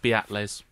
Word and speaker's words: Beatles: of them they're new on the scene it's pronounced beatles let's see after the break that was nice